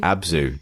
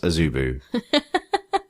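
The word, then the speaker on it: Abzû: a zubu pip abzu abzu not isubu the streaming service Abu good I don't actually know the exact pronunciation it's got a hat a circumflex over the U so could be anything I can't remember what that means let's call it abzu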